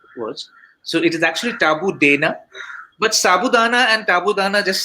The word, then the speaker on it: Taboodana: So how would you pronounce it? Tabu Dana, Tabu Dana, at Tabudana?